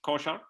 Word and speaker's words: Kochar: Kochar? That's correct.